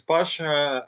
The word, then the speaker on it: Pasha: So my name is Pasha. I'm from Russia, so it rhymes.